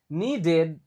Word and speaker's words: needed: Needed, dibaca I, needed, feedback, nah lagi dibaca I, on pronunciation.